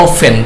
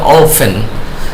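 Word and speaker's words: often: অনেক সস্তা খাবার 96 এ আর হয় 97 অফেন প্রায়টি এর উচ্চারণ হবে না এখানে হবে অফেন 98 হেলদি স্বাস্থ্যসম্মত 99 বাট কিন্তু হ মেনি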